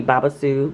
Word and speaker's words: babassu: up so okay and that could be pronouncing it wrong it might be babassu but I pronounce it Babis ooh derive from South